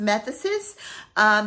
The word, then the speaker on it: Methexis: All right, the next one is by the House of Manos Gerakinis, and this is, it's called, it's spelled Meoxis, but it's pronounced Methexis.